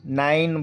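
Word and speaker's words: nine: ऐसा भी होता है कि ई की अपनी कोई ध्वनि नहीं होती जैसे एन आई एनई हम इसको नाइन नहीं बोलेंगे नाइन बोलेंगे रोज होता है है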